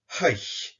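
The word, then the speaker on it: chaidh: Chai mafar, I was paid. Chai mardachuch, I was promoted. Or if you're outside Lewis, chai mardachuch. If you're interested, this word chai is pronounced haich in Isla.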